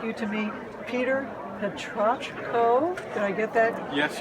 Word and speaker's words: Petrochko: I'd like you to meet Peter Petrochko. Did I get that Yes, you did.